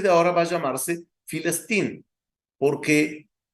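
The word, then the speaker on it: فلسطين: saben hebreo me entenderán, la P y la F es la misma letra, tanto en hebreo como en árabe, el mismo dibujo. Dependiendo de dónde se coloca, se pronuncia como P o se pronuncia como F. Entonces, ellos hasta el día de hoy la llaman Filistín o Filistín. Es decir, que vemos aquí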